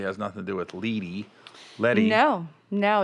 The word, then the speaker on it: LED: it doesn't i thought i always thought it was the letty i know it's weird spell it l e d as in david e letty lee lead is l-e-a-d i see i was